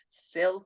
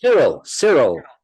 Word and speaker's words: Cyril: Sil, I think that's how you pronounce it. Cyril, That's it. Cyril the barman. That Yeah, that Y always annoys me.